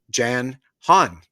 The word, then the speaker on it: Jan Hann: And today I want to welcome Jan Hann. I just pronounced your name correctly, Jan?